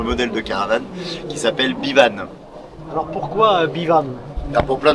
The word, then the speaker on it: Bivan: de caravane qui s'appelle Bivan. Alors pourquoi Bivan? Pour plein de choses. Alors Bivan en breton ça s'écrit B-E-V-A-N. Alors on a transformé le E en I pour la prononciation.